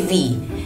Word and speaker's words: Veee: And if you want to say my name, just say Veee.